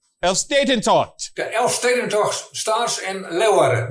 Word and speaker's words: Elfstedentocht: Elfstedentocht. Elfstedentocht. The Elfstedentocht starts in Leeuwarden. That's the capital of Friesland. There's 11 cities tour. That's what that means. That is what it means, yeah. Elfstedentocht.